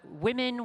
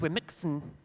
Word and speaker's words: Womxn: we briefly talk about the word women with an X it is not pronounced we're mixin which I've been doing